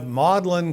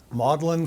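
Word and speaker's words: Magdalen: And you have you have Mlin College. That is how it's pronounced. Modellin College on the right which is where he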